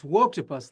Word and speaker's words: Wokeopus: The new book is called Wokeopus. I hope I'm pronouncing that the way you intended. So tell us about the new book and why people should read it. Yeah, it's Wokeopus, like woke octopus.